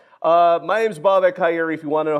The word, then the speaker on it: Bobak Ha'Eri: Uh, my name's Bob Akeri. If you want to know how to pronounce it, there you go.